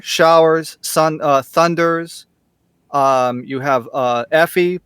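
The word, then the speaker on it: エーフィ: How do you say it in Okay, Effie? it's Effie and Blackie.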